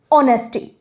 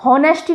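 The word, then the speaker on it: honesty: जैसे कि ऑनेस्टी, इसको हॉनेस्टी नहीं, इसको ऑनेस्टी प्रोनाउंस करते हैं।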